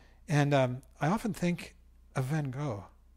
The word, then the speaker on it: Van Gogh: And I often think of Van Gogh, or as my teacher in college used to call him Van Gogh, Vincent van Gogh. The Dutch pronunciation, I guess.